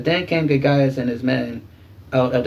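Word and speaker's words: Gorgias: So, and to be truthful, his I think in the Greek or in the Latin, his name is pronounced gorgeous, but I refuse to call another man gorgeous. So, his name is Gagias.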